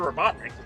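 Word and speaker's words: Robotnik: I do enjoy just it says Master robonic like it's spelled wrong I thought maybe he says it that way but he doesn't he says Master robotnic the spelling says Master roboton there's an extra o in there yeah whatever yeah wi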